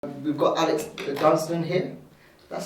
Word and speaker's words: Dunsdon: We've got Alex Dunsdon here. That's how I pronounce your name, right? That's how you pronounce it, yeah. Dunsdon.